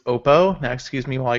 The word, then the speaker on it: Oppo: form look like an iPhone um that you pronounce it wrong it's Oppo now Excuse me while I go stand in